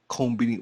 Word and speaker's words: konbini: For you though, I will pronounce it Konbini without the S.